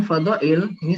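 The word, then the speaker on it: فضائل: Nah, kemudian fadhail ini sama seperti ahami, dia mamnu' minas shorof, ya. Ini dibacanya fadhaili. Fadhaili. Nah, kenapa dia fadhaili? Karena dia mudhafun ilaihi mudhafun ilaihi majrurun.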